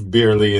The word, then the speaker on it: Bierley: Today I have live beerly in the building.